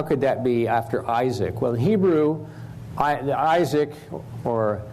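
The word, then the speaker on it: יצחק: Everybody else in the world, except the English speakers, say Itzhak. The I comes out like a short E or a long E, Itzhak sometimes, or I, short I, Itzhak. So the core of the word is the S and then the hard C or a K.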